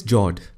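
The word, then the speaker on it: fjord: Norway Russia and Sweden the next one is Jord the f word is silent when you pronounce it these are a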